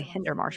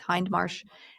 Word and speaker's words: Hindmarsh: For some reason I wanted to say Hindermarsh, but there's no ER there. It's Hindmarsh, and John Savory in a 2008 rebuttal.